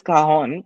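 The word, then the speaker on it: cajón: of this instrument is kahon it's a Spanish word and the way you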